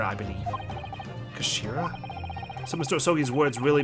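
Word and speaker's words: 頭: end of the hilt it's written as head in Japanese but it's pronounced as Kashira I believe Kashira so Mr oi's words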